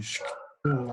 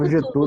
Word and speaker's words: Cthulhu: Mas aquele conto do Lovecraft, o chamado de Cthulhu lá, De Clayton. como que é a pronúncia, Adriano?